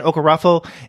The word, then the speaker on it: Okorafor: Is that how you pronounce her name again? Okorafor, and illustrated by Tana Ford.